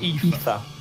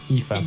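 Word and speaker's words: Aoife: based on this perhaps I put this pronounced Eva Eva yeah but it looks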